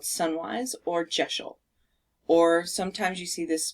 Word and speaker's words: deosil: most common is a direction called sunwise or jeshil or sometimes you see this pronounced jso or jyosho it's not deosil it's geshel or geosil just so you know and it it means